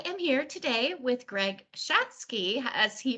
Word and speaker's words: Schatzke: family um I am here today with Greg schatzky as he pronounces it who is a BP at Serbian